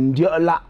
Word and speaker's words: Ndiola: Et quand on prononce ça purement en bafan, c'est Ndiola.